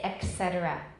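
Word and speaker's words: et cetera: The Latin word for and is et, et. But you'll see or you'll hear people say etc.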